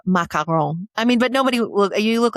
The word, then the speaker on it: macaron: We always say macaroon, right? Yeah. And it hurts my heart a little bit. And we mean the little French Oreo thing. You do. Macaron.